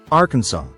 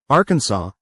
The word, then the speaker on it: Arkansas: They transcribed it the only way they knew, adding their own grammar, spelling it Arkansas, and giving it a French pronunciation with a silent s.